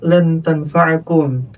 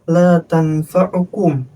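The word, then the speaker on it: لن تنفعكم: Kayak misalnya tadi di surah almumtahanah yang harusnya lan tanfaakum tapi dibacanya la tanfaukum itu salah besar dari harakat itu bisa ngerubah susunan artinya nanti seperti itu.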